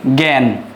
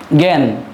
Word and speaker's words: জ্ঞান: জযোগ ইয় হয় কিন্তু উচ্চারণের ক্ষেত্রে শব্দের আদিতে এই জ এর উচ্চারণ হবে গ জফলা চন্দ্রবিন্দু শব্দের মধ্যে এবং শেষে উচ্চারিত হবে গ এবং গ চন্দ্রবিন্দু রূপে। গ এবং গ চন্দ্রবিন্দু রূপে উচ্চারিত হয়ে থাকে। এবার আমরা দেখব শব্দের আদিতে যেহেতু এখানে অ যুক্ত আছে ব্যঞ্জনের সাথে সেজন্যই এখানে উচ্চারিত হবে এভাবে জ্ঞান জ্ঞান আর এইটা উচ্চারিত হয়ে থাকবে বিজ্ঞান উচ্চারণ হবে বিজ্ঞান